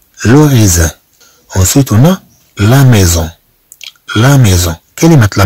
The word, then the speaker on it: maison: Ensuite, on a la maison.